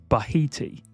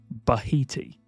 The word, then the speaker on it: Bahiti: from Egyptian or possibly even Swahili roots, but pronunciation-wise, it's fairly straightforward. It is Bahiti. Bahiti.